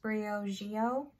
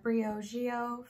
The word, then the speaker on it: Briogeo: So I'm pretty sure this is pronounced Briogeo, and this is the Curl Charisma Rice Amino and Avocado Hydrating Shampoo.